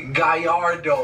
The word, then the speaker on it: Gallardo: actually driving a Lamborghini Gallardo or a guy yard oh as they pronounced together everyone's in a row